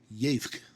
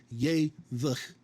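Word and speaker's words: יֵבְךְּ: and you just get yevk, okay? This is not ye-vch with a vocal shava. Both of these shavas are silent. This is one syllable, yevk.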